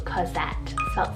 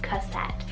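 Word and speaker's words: Cosette: to the girls side i have the name cozette c-o-s-e-t-t-e cassette and this one's french literary nickname meaning little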